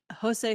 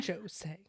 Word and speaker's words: Jose: Souray, Piqué Subban, and Jose Theodore. I don't know why I said it with a J. I know how to say the name Jose. Jose.